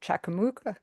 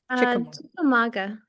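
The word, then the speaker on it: Chickamauga: at the 109 Gallery in historic downtown Chakam Chakamuka. How do you pronounce that correctly? Chikamaga.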